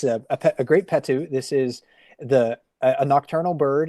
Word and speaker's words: Potoo: Yeah, this is a great Potoo. At least that's how my dictionary says you should pronounce that word. It's spelled Potoo, but it's a great Potoo.